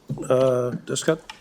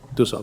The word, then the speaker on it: Dusso: Okay, our first speaker is Descott? I'm in trouble. I pronounced your last name wrong, I know. Sorry? Dusso.